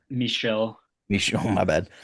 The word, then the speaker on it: Michel: Michelle. Michelle. My bad. Right. It's M I C H E L, right? I assume you're right. Um, he's he's got Andy Warhol, Michelle Buskiot, cause that Japanese I think artist who